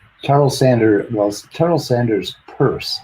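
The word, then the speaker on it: Peirce: sander was terrell sanders purse i was saying his name wrong it's not pearson's purse charles w morris and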